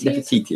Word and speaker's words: Nefertiti: Is that how you pronounce it? Nefertiti. Nefertiti, that's it.